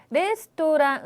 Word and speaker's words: レストラン: 그래서 여기서도 레스토랑 응까지 해서 5박자로 발음을 하시는 게 훨씬 더 좋은 발음이 될 것 같네요.